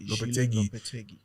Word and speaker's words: Lopetegui: Lopetegui.